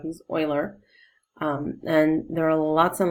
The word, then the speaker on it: Euler: This is pronounced Euler. Lots of people mistakenly call him Euler. He's not Euler, he's Euler.